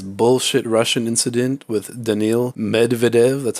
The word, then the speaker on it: Medvedev: Stefanos, known for his bullshit Russian incident with Daniil Medvedev. That's how you say it. Medvedev, sorry, sorry.